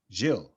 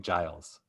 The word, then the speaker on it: Gilles: How do you say it properly? Gilles. And he was saying Giles. Yeah, he's saying like Johnny Giles.